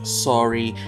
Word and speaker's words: saury: Sanma is a kind of fish called Pacific sori in English. It's just like the word sori, but it's spelled differently. It's spelled S-A-U-R-Y.